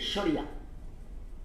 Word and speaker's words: শরিয়া: এই যে কথাটা খুব উঠছে, শরিয়া, আমরা যখন শরিয়াত বলি ভারতে, মূলত শরিয়া, আরবিক উচ্চারণটা হচ্ছে শরিয়া।